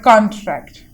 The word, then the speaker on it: contract: There is a word contract. So the bold letters here are the stressed one. C-O-N, con, and the whole word is a contract. So here C-O-N is related to the noun category, and here the track, the bold one here, the bold letters here, the syllable here were verb. Contract, con related to the noun and the tract related to the verbs.